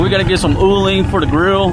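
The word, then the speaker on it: uling: ooling for the grill now i said it right that time it's called ooling which is charcoal i usually say canding which is a goat but for some reason i get those terms mixed up i mean you can't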